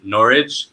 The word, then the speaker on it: Norwich: you gave me a hard time because I mispronounced this, but I think I got it now, is Norwich.